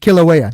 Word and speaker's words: Kilauea: How do I pronounce that? Kilauea.